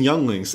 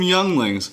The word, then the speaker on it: younglings: were upset and then i realized i mispronounced yangling i just never knew how to say it so yeah that was rough let's let's down some younglings okay anakin um okay